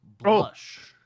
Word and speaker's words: Blaz: last week that we had a new Patreon, Blaz, and we've been told here the name is pronounced Blush.